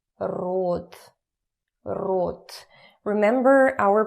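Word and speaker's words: род: in Russian it's rude root remember our pronunciation lesson from the last week we don't say Rod we say root root okay so genders in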